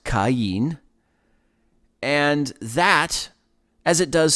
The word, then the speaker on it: Cain: cayenne you know again king james version says kane and it's strong's concordance number 7014 uh it's pronounced cain and that as it